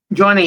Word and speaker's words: Jonni: So, am I pronouncing this right? Straightforward Johnny. Johnny, yes, Johnny, it's correct.